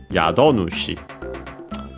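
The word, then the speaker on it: 宿主: And so literally Yado Nushi, accented in this case on the do, Yado Nushi.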